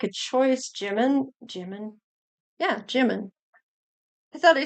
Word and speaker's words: Jimin: Yeah, Jimin.